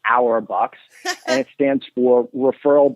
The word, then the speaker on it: rBux: point systems yeah so we call them our box which phonetically sound like our box and it stands for